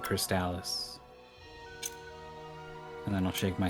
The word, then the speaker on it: Crystalis: Crystalis where it's like there's there's five ways to pronounce this and they're all valid except I'm gonna raise an eyebrow if you don't call it crystallis and I don't shake